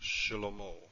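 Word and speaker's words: שלמה: Here we have a vocal Shewa and it's pronounced Shlomo, but it's hardly pronounced, just barely.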